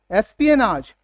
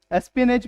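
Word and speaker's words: espionage: चलिए last word देखते हैं हमारा एस्पियनाज। एस्पियनाज क्या है करेक्ट प्रोनाउंसिएशन? एस्पियनेज भी बोल सकते हैं आप, एस्पियनाज।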